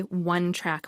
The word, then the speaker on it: one-track: say she has a one-track mind because one track starts with a W sound squigly wants to work